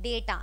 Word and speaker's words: data: आप उसको डाटा नहीं बोलोगे, इसको डे बोलोगे, So it will be called as day and then become star, data and not data.